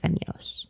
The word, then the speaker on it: Femyoz: It's like you say it fast, it's like Femyoz.